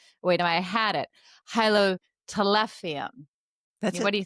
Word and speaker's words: Hylotelephium: It's now Hylotelephium. Wait, no, I had it. Hylotelephium.